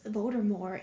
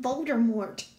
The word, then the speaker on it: Voldemort: tea in Voldemort is voter more is silent for years I was calling him bolder Mort but the T is silent yeah okay oh and